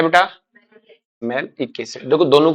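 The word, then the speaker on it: malic: आगे बात में, तो आप इसको ऐसे रख सकते हो ना, मालिक एसिड, प्रोनाउंसिएशन अलग करो, मालिक एसिड, वो मेलिक, ये मालिक।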